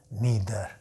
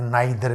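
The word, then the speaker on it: neither: ना, each, every, ईदर, नीदर, ये इसको कई लोग आइदर और नाइदर भी बोलते हैं। तो ईच, एवरी, ईदर, नीदर या आइदर, नाइदर, उस तरह भी प्रोनाउंस किया जाता है इसको, ठीक।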